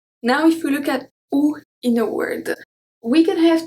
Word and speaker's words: oui: We have oui, oui, oui.